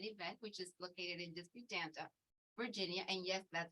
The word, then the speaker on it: Disputanta: my husband and I own Chester Estates in an event, which is located in Disputanta, Virginia.